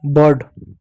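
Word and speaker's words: bird: उसी प्रकार बी का देखो ब पढ़ेंगे। आई का क्या होगा? अ होगा। औ की मात्रा नहीं छोड़ दो। और देखो आर डी दो कौन सा एक साथ है। इसलिए डी का ड लिख दो। आर इस तरफ से उड़ा के लिख दो। हो जाएगा बर्ड। ठीक है?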